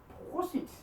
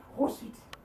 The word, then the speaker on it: prosit: So, this one, prosit. Prosit.